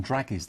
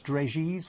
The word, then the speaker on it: dragées: I said draggies, and then I think it was it's spelt draggies, but it was Liz that said no, it's dragies or something like that. Right. It's a bit posher.